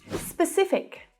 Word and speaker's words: specific: Specific. Specific. Now, although this word is quite common, it's also quite commonly mispronounced, especially as an adverb. Specific. Specific. The stress is on that middle syllable.